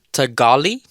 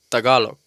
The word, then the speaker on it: Tagalog: Like, is it because like I've heard Tagali, No. I've heard Tagalog, and I've heard Tagalog. Yeah, Tagalog is kind of how they say it. So not Tagali, Nah. not at all.